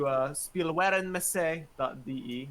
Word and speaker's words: Spielwarenmesse: There is an archive of the article, thankfully, thanks to spielwarenmesse.de. I probably butchered that pronunciation. Spielwarenmesse. Thank you.